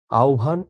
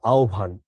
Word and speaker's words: আহ্বান: আহ্বান, ইশতিয়াক, আহ্বান এভাবে হচ্ছে উচ্চারণ করবা, আহ্বান, বিয়োভল, এরকম।